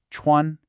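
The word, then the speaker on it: 穿: Then chuan, high and flat, first tone.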